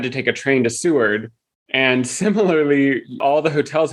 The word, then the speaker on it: Seward: Seward. Okay. So when we were in Alaska, we flew into Anchorage and then had to take a train to Seward.